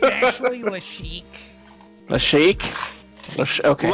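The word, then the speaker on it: Lashiec: It's actually Lashik. Lashik? Okay. Like we're gonna start pronouncing names by the correctly first now.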